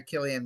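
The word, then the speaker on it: Cillian: play physicist Robert Oppenheimer Oscar winner Killian Murphy although it's spelled selian he's selian to work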